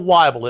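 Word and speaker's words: Wible: my name is wble it rhymes with Bible I remember to this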